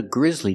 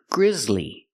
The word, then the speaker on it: grisly: with vibration Z Grizz Grizzly two syllables not Grizzly but Grizzly Lee the second syllable is the long e like green beans Le